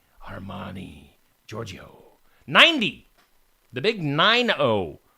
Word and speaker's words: Armani: uh how do you say his name Giorgio armman Armani Giorgio 90 the big 90 for Georgio uh